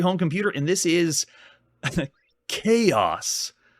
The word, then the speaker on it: Kayos: We're still on the Atari home computer, and this is Kayos. Spelled phonetically for people that pronounced it Chaos, if it's too hard for you.